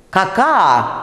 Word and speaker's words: какао: Ну вот если я сейчас произнесу «какао», вы вообще не поймете, что за слово я произнесла. «Какао», правда же, безударный гласный, там сочетание «а-о», и я вынуждена безударный «о» произносить.